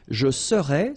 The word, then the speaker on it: serais: Je serais, same thing here, final S not pronounced.